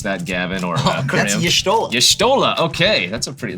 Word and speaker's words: Y'shtola: And I don't know how you pronounce that, Gavin or That's Crim. Y'shtola.